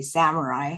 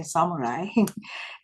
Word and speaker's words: samurai: And I mean, in the way I pronounce Japanese word, I don't want to say samurai. I want to say samurai because that's more correct.